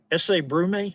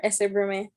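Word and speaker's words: Ese Brume: do you know uh essay brew me is that how you pronounce it yes sir essay brewman hail have you been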